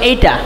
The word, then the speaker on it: ate: যেমন আমরা এটা উচ্চারণ কী করি, ইট ইট অ্যাট ইটেন করি, ঠিক না? এই উচ্চারণটা সম্পূর্ণ ভুল। আমরা একটু দেখি, এটা উচ্চারণটা যদি আমি অ্যাট করি তাহলে অ্যাটের উচ্চারণ এইটা, এটার উচ্চারণ হবে।